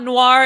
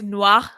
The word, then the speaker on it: Noir: You don't pronounce the last R like you do. It's like, it's not Noir, it's Noir.